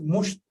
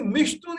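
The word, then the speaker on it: مشط: Now, author preferred to use for comb mushtun. Even if you say mishtun, it also means comb. Even if you say mashtun, it also means comb.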